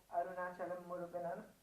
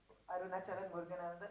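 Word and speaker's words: Arunachalam Muruganantham: point of view, and you've made him portray Arunachalam Muruganan. Have I said it right? Arunachalam Muruganan. Arunachalam Muruganandan.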